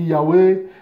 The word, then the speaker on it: Yahweh: Et c'est vrai qu'aujourd'hui, nous, quand on prononce ce nom-là, on dit Yahweh, comme ça, voilà, on le dit comme ça scandalise beaucoup, voilà,